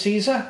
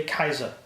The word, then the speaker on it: Caesar: Like, Julius Caesar, it's actually Kaiser.